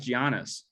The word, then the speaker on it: Giannis: I can't do Giannis? it. That guy's good. For the longest time, I thought his name was pronounced Giannis. No, it's Giannis. For the Giannis.